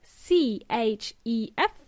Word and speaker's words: chef: They can also be called a chef, spelled as C-H-E-F. In Spanish, this is cocinero, C-H-E-F, pronounced chef.